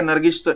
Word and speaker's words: नर्गिस: Spelling त्या नर्गिसचं इथं असंच आहे, नर्गेश मिर्झा, पण त्याला म्हणताना नर्गिस म्हणायचं, नर्गिस मिर्झा.